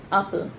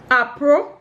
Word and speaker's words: apple: Apple. Yeah. Oh yes. Comment. Have you not heard people pronounce apple with an R sound in that? Apro.